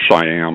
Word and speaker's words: Shyam: have they sham Sunder I've learned to say his name I think a little bit better than I did in the video um looks like shyam or something was sham I think the way he says it sham Sunder and he's